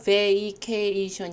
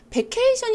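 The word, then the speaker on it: vacation: 어느 우베 2개 20 사실 우리가 베이케이션 입니다 원래 소리가 베이케이션 이에요 근데 이제 매이 에 이가 앞에 짧게 나니까 베케이션 이라고 많이 알고 계시지 않으신가요 예 베이케이션 1 원래 그 발음기호 상에는 외에 2 개 이션 이구요 그래서 그렇게 발음 하셔야 되는데 이 k 에는 강세가 있어서 정확히 a 소리가 들리는데 왜 a 할 때는 이가 살짝 안 들릴 수도 있지만 원래 다름 웨이 케이 션 akin 베이케이션 n 4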